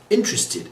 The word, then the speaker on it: interested: talked about this one interested is in three syllables not for opinion gradually and then argument arbitrary fired an African and African ISM result moment series publish symbolize organize future accept interested again religion again excited